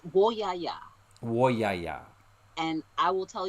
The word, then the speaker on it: Woyaya: And I'm not sure if I'm going to pronounce this right, but the Woyaya song? It's Woyaya.